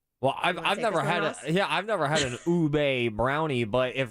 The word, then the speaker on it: ube: I remember seeing National Brownie Day, but is it pronounced Ubi? Ube. Ube. Oh, Ube.